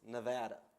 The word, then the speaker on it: Nevada: And just, I'm going to get dinged back home if I don't correct you, but it's Nevada.